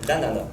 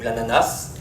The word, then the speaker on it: ananas: Donc quand le fruit est un symbole l'anana ou l'ananas, certains prononcent le S, certains prononcent, euh ça c'est originaire du sud du Brésil, l'ananas.